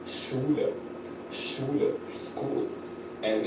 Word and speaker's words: Schule: Schule, school, and it's basically pronounced like SH, Schule, school, Schule.